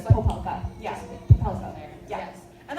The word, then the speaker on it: Popelka: Yeah, which is funny because my family, like a lot of people say, they don't pronounce the O, they say Popelka instead of Popelka.